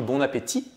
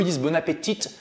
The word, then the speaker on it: bon appétit: ça génial parce que eux lisbona pettitte tu vas y prononce le thé parce qu'on en anglais la plupart des lettres à la fin se prononce et donc là toi